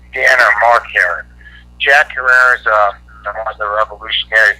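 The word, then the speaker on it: Herer: And we'd like to get his son Mark and or Dan Herrer, that's H-E-R-E-R, like rhymes with terror.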